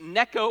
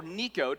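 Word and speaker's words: Necho: And so, in this particular season, there is a particular king in Egypt, which is Neco or Niko, depending on how you want to pronounce.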